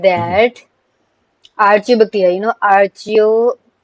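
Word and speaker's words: archaea: They said that archactia you know ario sometime they pronounce it like archio sometime they say ario bacteria.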